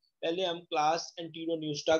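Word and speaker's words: Enteropneusta: First is the class एंटीरोन्यूस्टा, P silent है, इसको आपने पढ़ना है, class एंटीरोन्यूस्टा। Second is the class टीरोब्रैंकिया, P silent, टीरोब्रैंकिया। Third is the class प्लैंक्टोस्फीरोइडिया, class प्लैंक्टोस्फीरोइडिया। Three classes, एंटीरोन्यूस्टा, टीरोब्रैंकिया and third is द प्लैंक्टोस्फीरोइडिया।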